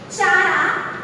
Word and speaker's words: Chara: And if we talk about the rhizoidal cell, okay, rhizoidal cell students, if we will talk rhizoidal cell, like chara or kara also you can say.